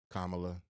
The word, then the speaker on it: Kamala: you think that if Camila Harris is elected I want you to say her name properly KLA Kamala thank you car Carmela um if